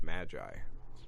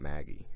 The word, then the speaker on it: Maggy: called Maggie is because it's Magi it's ma GI and that's the name's not Maggie her name is the